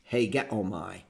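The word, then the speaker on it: ἡγέομαι: The eta is a long E. Regular E in Greek is called an epsilon. And so this happened to have a long E and with a rough breather over it.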